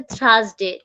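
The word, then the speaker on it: Thursday: তারপর হচ্ছে থার্সডে, THURS, থার্সডে। এটা তো বললাম, এটা ঠি উচ্চারণ করা যাবে না, ঠি হবে না, এটা জাস্ট হচ্ছে জিহ্বাটা আমার দুই দাঁতের মাঝখান থেকে হবে। থার্সডে, থার্স, থার্সডে, থার্সডে, just like that.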